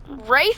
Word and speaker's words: wraith: can use his right wraith form or wreath form depending on how you pronounce it to become invulnerable to